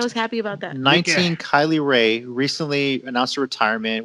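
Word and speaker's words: Kylie Rae: to each other on purpose and they're like pronounce it now yeah kylie ray and then number eighteen k lee ray exactly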